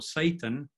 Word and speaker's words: Satan: So we have Satan with a long stressed vowel in the first syllable, but Satanis with a long stressed vowel in the second syllable.